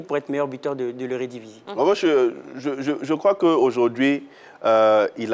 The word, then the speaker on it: Eredivisie: L'Eredivisie. Vous avez bien prononcé.